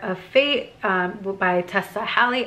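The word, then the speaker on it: Hale: Fate um by Tessa hi actually I've been saying Tessa hi and I think it might be Tessa Hill so I'm sorry if I'm saying it wrong it's h a l e I might be saying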